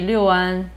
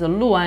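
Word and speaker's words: 六安: The funny thing is Luan is supposed to be the correct one, but because Liu is the number Liu pronunciation, Many people just call that Liuan Gua Pian. Now the wrong pronunciation becomes the right pronunciation.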